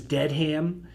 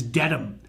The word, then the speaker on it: Dedham: We're not thinking about the city you're trying to get to, which is Dedham. Dedham, right? So Dedham is not dead ham, it's Dedham, right?